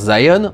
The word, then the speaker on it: Zion: qu'on dit Sion mais ça s'écrit avec un Z et ça se prononce Zion en anglais, mais le I et